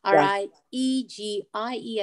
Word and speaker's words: Riegie: and then Riegie is how you pronounce it.